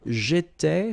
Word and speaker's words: j'étais: J'étais, so final S not pronounced.